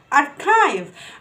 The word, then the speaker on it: archive: كلمة archive, archive. أنا بسمع errors كتير في النطق الكلمة دي ما اسمهاش archive اسمها archive, archive.